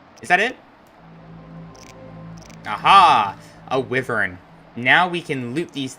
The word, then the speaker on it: wyvern: frequently mistaken for Dragons why fern I keep forgetting it's pronounced wyvern at least in this game